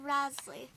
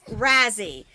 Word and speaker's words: Razey: Sherry Rasley. All right, it's Shirley Razzie. The last name is spelled Razey. All right, now, you girls can go ahead and run on down and play.